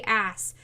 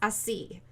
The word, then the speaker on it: ASC: It doesn't say ass. It's pronounced AC.